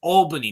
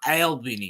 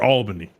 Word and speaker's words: Albany: you're I'm glad you right I'm glad you pronounce it right it's Albany not ALB or whatever you say yeah yeah it took me some time but now I learned Albany there you go upstate listen it's Upstate New